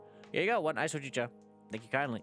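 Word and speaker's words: ほうじ茶: Yeah, you got one ice hojicha. Thank you kindly. Is that my pronouncing that right? Hojicha. There's a green tea, right? Oh, ga. Yeah. Okay, I was right. I was correct.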